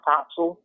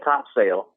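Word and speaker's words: Topsail: few weeks back about how to pronounce topsul like you know I I did totally used to be at one of those dudes that said top sale and like never never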